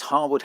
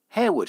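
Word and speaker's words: Harewood: 18th century country estate many people make the mistake of calling the grade one listed mansion hawood house because well that's how it's spell the latest Lord Harwood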